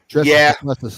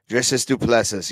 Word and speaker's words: Du Plessis: Du Plessis, that's how you say it, by the way, if anyone was wondering. Dricus Du Plessis, yes.